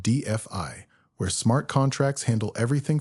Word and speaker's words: DeFi: With the 2026 scaling upgrades, we're seeing an explosion in DeFi, pronounced DFI, where smart contracts handle everything from real estate to global insurance.